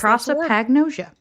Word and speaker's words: prosopagnosia: how to actually say that word hang on proa Pagosa Pro agnosia yeah proa Pagosa H yeah yeah that's prosopagnosia that's how to say the face blindness thing